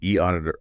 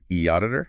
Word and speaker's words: eAuditor: We're drawing our insights from info on the e auditor audits and inspections website. That's e auditor and uh we pronounce it e auditor.